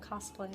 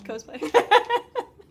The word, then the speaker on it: cosplay: Cosplay. Cosplay. I always say that wrong. I say cosplay, and people are like, no, it's like costume. It's cosplay.